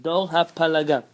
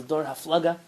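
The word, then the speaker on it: דור הפלגה: Dor hapalaga. The Ashkenazim pronounce this as Dor haflaga.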